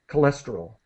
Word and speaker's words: cholesterol: cholesterol yeah great and you guys are pronouncing it correctly cholesterol it it's it's pronounced like a k cholesterol all right again dietes